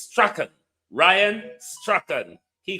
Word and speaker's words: Strachan: He called himself Strawn, but the pronunciation in British Scottish is Strachan.